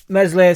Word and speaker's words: Meslier: get back for Burnley mesle silent s is getting targeted pretty